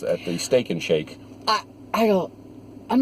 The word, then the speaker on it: Sheikh: Nations and other landmarks I said how you say it shake shake no no sounds like a drive-through or something right mmm new flavors